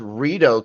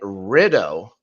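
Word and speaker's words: Rideau: he didn't pronounce like it's pronounced red Canal right he pronouncing it rido like rido oh my godness oh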